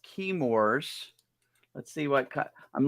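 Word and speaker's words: Chemours: this is key uh I think it's pronounced keymors let's see what cut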